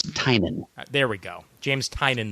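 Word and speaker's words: Tynion: ways so far but it's either tinian or tinan heard it pronounced both ways I think the definitive version I heard and this comes from the Benson sisters was tinan there we go James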